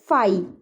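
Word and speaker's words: φ: फाई which is a Greek letter pronounced as फाई, इसको हम लोग फाई बोलते हैं।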